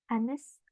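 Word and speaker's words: honest: Anes kita bacanya anes. Penekanannya ada di O di sini bukan di H-nya, tapi di O-nya.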